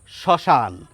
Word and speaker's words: শ্মশান: শব্দের শুরুতে যদি মফলা থাকে সেই ময়ের উচ্চারণ আমরা করি না। আমরা এই যে বানানটি, এখান থেকে মটি যদি বাদ দিই তাহলে যেটি দাঁড়াবে সেটি হচ্ছে আমাদের উচ্চারণ। শ্মশান, ম বাদ দিয়ে উচ্চারণ করলাম।